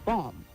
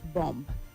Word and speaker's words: bomb: It is bomb, not bomb. The B at the end is silent.